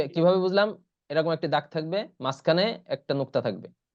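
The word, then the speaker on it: ث: আছে তা আছে থাহ্বা জিহ্বা একটু বের করে দিতে হবে হালকা করে আমার দিকে দেখেন দেখেন ছাটা অনেকে ছাড়ে ছা বললে এটা উচ্চারণ হবে না এজন্য এটা একটু কঠিন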